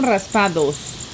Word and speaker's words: raspados: probably saying it wrong is it raspados or raspadas Ras we call them raspados okay what are yours